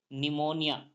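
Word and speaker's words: pneumonia: एन आ रहा है तो पी साइलेंट हो जाएगा तो पी एन ई यू एम ओ एन आई ए को हम पढ़ेंगे निमोनिया क्या पढ़ेंगे निमोनिया पढ़ेंगे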